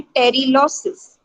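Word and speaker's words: pterylosis: उससे ही आया है ये वर्ड, पोटेजियम से ही टेरिलॉसिस, पी साइलेंट है उसी से ही वर्ड आया।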